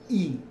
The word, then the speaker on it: y: is talk about a pronoun called when the pronounce the word e it's only one letter there's one letter but